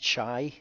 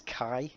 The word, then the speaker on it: chi: and please bear in mind that it is pronounced like a kicking kit it's not a chat uh it's not shy uh as in like chai ovena it's kai uh also like the the son of wayne